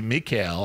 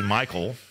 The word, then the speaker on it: Michael: Gabrielle Gabrielle and Mikel it technically would be Mikel I didn't say that I guess but okay we say Michael you know I don't